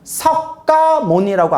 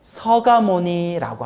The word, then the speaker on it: 석가모니: 쓰기는 그렇게 쓰되 발음은 완화시키는 거예요.